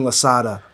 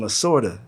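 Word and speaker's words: Lasorda: So like, so I would be like I would just say something like Tommy Lada. That's how I pronounce his name and they'd be like who? I'm like Tommy Lada. And it's like no, Tommy Lorta.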